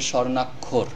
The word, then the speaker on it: স্বর্ণাক্ষর: নাক খ রক্ষর স্বর্ণাক্ষর লেখা আছে স্বর্ণাক্ষর কিন্তু উচ্চারণ করতে হবে স্বর্ণাক্ষর উচ্চারণ হবে স্বর্ণাক্ষর তো এই খিয় খ বর্ণটি